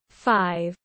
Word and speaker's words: V: over 2010 overexposed 2012 v pronounced 5 2014 and red pill blues 2017 as part of maroon 5.